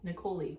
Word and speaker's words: Nicoli: Nicoli rhymes with cannoli.